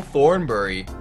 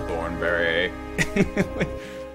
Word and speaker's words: Thornberry: pronounce that what is I said it wrong Thornbury what is it I'm Thornberry how are you to